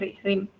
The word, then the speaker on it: rhyme: Itu juga Miss Santi menjelaskan tadi di lagu juga ada tentang rim ya, bacanya rim.